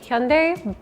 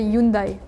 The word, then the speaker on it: Hyundai: In Spain, we say in two ways, Hyundai or Yundai because of the the H is muted in Spanish.